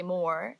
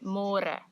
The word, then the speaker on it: môre: It's a little bit easier, but you have to remember to read môre because in English it's spelled like more. So don't say more, say môre.